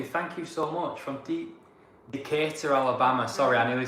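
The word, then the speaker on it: Decatur: It's Decator."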